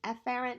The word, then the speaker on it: efferent: Now technically they're pronounced afferent and efferent, but they sound so similar, I'm going to highlight the first letter.